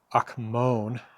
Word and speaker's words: akmon: Uh it's also much more closely the root that gives us Greek akmon. I don't know. I think the accent is on the first syllable there ak- akmon.